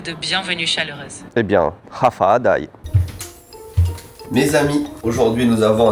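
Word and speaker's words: Håfa Adai: Hafa Adai, prononcé Hafa Adai, est la salutation traditionnelle chamorro, la langue indigène de Guam.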